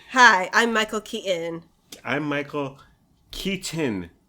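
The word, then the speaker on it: Keaton: he said his last name hi I'm Michael Kon I'm Michael Kon it's just and you if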